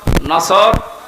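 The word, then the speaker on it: نصر: তেলাওয়াত যখন করবেন সদ উচ্চারণটা মুখ গোল করা লাগে আল্লাহ পাক জানিয়েছেন যখন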